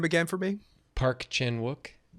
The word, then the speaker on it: Chan-wook: Park Chenwuk. Chen. Did I say it right on the video I put out? I think so. Parkchan Wook.